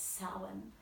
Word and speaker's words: Samhain: On the record, I know I say the word Samhain, but I pronounce it Samhain because I didn't know any better back then. Now I know it's Samhain.